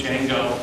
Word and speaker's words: Django: And I'm going to choose Django, the D is silent, as one example implementation for a data model.